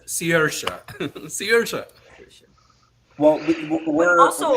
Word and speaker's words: Saoirse: And and I still don't know how to pronounce it correctly after hearing it a million times. Saoirse. He says Saoirse.